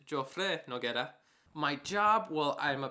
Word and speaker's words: Joffre Noguera: My name is Joffre Noguera. The way how you pronounce it is Joffre Noguera.